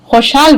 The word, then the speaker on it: खुशहाल: खुशहाल हो गया अब खुशहाल का सही उच्चारण कौन करेगा सही प्रोनंसिएशन क्या है खुशाल वर्तिका वेरी गुड अच्छा अब खुशहाल का